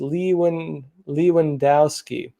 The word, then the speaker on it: Lewandowski: he said joshua the the correct way to say the name is leewan lewandowski thank you folks for